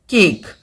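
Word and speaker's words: cake: में प्रोनाउंस करता है फॉर एग्जांपल केक। अब यहां पर इसको गौर से समझिएगा। इसके एंड पर जो है वह इ है। अब यह इ जो है यह हमारा साइलेंट है। इ जो है यह हमारा साइलेंट है। इसने किसी तरह का कोई साउंड जो है वो प्रोड्यूस नहीं किया।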